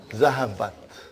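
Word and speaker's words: ذهبت: How do you pronounce it? Zahabat. Huh?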